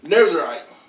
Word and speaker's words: Nazarite: How you pronounce this baby again? Nazarite.